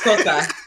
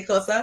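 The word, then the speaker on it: Xhosa: Now it's just Kosa. I can't even say Kosa. Did you know you have to click to say Kosa? Yes. You have to be able to click to even pronounce the name.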